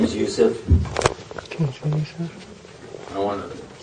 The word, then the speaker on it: Yusuf: background uh first of all my name is Yousef can see sir I want to give a